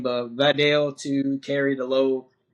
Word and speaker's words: Vidal: Um I don't know how to say his first name, but Vadell to carry the load. Hassan Haskins and Kamani Vidal. Yeah, Kamani Vidal um to carry the load.